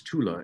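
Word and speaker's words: Thule: Arctic area up there was ultimatula Americans are pronounced it fool but it's Tula in German and so one wonders why went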